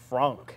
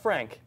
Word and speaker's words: Franc: So the correct answer is Cabernet Franc. Franc, not Frank.